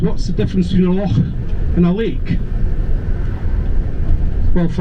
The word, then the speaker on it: loch: But the difference is, a loch can be either freshwater or saltwater, but a lake can only be freshwater. And let's get the pronunciation right from the start. It's loch at all.